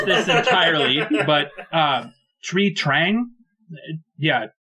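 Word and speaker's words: Thuy Trang: Okay, and I'm not sure how to pronounce this entirely, but Tree Trang? Yeah, Twee Trang, who played Trini on Power Rangers.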